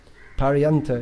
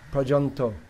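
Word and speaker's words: পর্যন্ত: Paryanta is a Sanskrit word. Commonly used in Bengali. Pronounced Prajanto.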